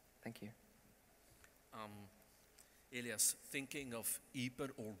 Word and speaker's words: Ieper: Elias, thinking of Ieper or wipers, as the British say, what is to you the value of a symbol like the last post being played every single night there?